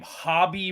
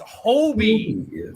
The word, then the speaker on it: Hobie: the the number of people that I hear pronounce his name hobby Brown drives me like he's Bobby Brown it drives me got it's h-o-b-i it's Hobie Hobie homie Brown bro